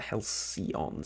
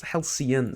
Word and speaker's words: Helcian: the Halcyon sector um I keep calling it The hellcion sector it's Halcyon sector um you named it